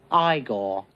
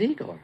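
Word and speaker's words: Igor: he me eagle now it's pronounced I go but they told me it was eagle well they were wrong name weren't they they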